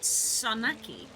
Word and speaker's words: saganaki: Yeah, in Euros the G is silent. Okay. That genuinely confuses me because it's S-A-G-A, but you don't pronounce the G, so it's just Sanaki.